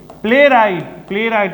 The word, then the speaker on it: playwright: प्लेराइट, PLAYWRIGHT लिखा हुआ है, ध्यान से। प्लेराइट यहाँ W साइलेंट है।